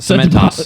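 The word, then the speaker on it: Cementoss: Cement toss.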